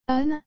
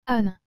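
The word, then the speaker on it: âne: et le mot anin vous avez remarqué que j'ai bien dit eun et non anin je répète encore afin de vous aider à percevoir la différence en exagérant cette fois en un an parce que le a est accompagné de cet accent circonflexe vous avez aussi remarquer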